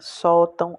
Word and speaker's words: sótão: Sótão é a penúltima.